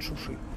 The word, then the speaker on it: Шуши: чем неудобно это въезд шушу армия не произносят шуши знаковый город нагорного карабаха